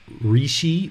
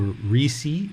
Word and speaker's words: Rishi: So in Thai tradition, we call Lucy, or the way that you'll hear it pronounced kind of in India is Rishi or Risi.